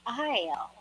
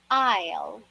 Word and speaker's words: aisle: to walk down the aisle again repeat after me it is isle isle very good aisle all right next word